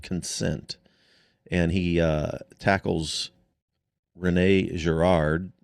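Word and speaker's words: Girard: Theology of consent and he uh tackles Renee Gerard if did I come close to the right pronunciation? No, that's very good. Gerard uh where Gerard tackles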